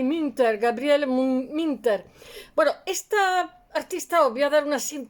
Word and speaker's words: Münter: digo que estaba eh se escribe munter con dos puntitos que se lee como una I minter Gabriel minter bueno esta